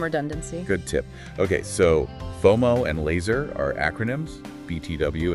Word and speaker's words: FOMO: Ah, like FOMO. Exactly. Fear of missing out. We say FOMO, not F O M O.